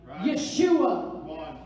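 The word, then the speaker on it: ישוע: still and see yeshua guess how the name of jesus is pronounced in hebrew yeshua in other words moses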